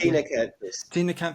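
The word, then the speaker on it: Ctenacanthus: So it's Tenacanthus, is it? That's the how it pronounced. Tenacanthus. CT Tenacanthus.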